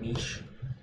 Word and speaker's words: niche: niche is actually a French word. Like it's not changed at all. It's a word directly Yeah. from French. So if you pronounce it like in the French way to pronounce things, it would be niche.